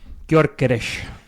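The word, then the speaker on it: Gyökeres: Phil, can you pronounce the name for me so I don't mess it up again? Gorgees.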